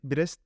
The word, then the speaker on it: Brest: sene Eee 4 senede bir yapılan Eee pari Brest pari Ben Eee bundan başlatırken arkada pari bire